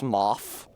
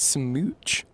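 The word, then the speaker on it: Smough: pronounced very droll RB it's not pronounced any there's no terminal consonant it just ends with the vowel sound it's not SM it's not small it's pronounced smooch I think that that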